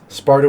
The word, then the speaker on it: Sparda: That's Sparda with a D, not a T. I'm not just saying it wrong.